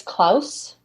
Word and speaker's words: Claus: Christmas cookie sugar crash clus Von buulo was a danish-born British lawyer with Noble Heritage sorry he his name is Claus K Claus yeah like Santa Claus that's Claus Claus ah